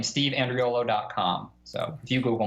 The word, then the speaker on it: Andriolo: your website again it's just my name steve and rio low comm so if you google me it open yep just so for our audio listeners Andreo low is spelled a and dri o l steve